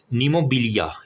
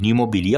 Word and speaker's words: pneumobilia: एयर होगा तो इसे हम कहते हैं PNEUM, नीमोबिलिया, या क्या लफ्ज़ है ये, नीमोबिलिया। नाम मैं आपको स्पेलिंग लिख देता हूँ ताकि आप PNEUMOBILIA, नीमोबिलिया होगा, स्मॉल बावल ऑब्स्ट्रक्शन।